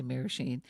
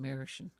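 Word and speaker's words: Merasheen: take it yeah marishan marashin that's if you're pronouncing it in grandly you say mirror sheen but the people who are from there call it marishan yes that's right uh last time you were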